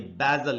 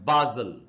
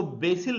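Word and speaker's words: basil: भी उच्चारण वो है बादल तो आप इसको बाइज्जल या बादल दोनों ही पढ़ सकते हैं इसको बेसिल नहीं पढ़ेंगे जैसा लोग पढ़ लेते हैं और दोस्तों और में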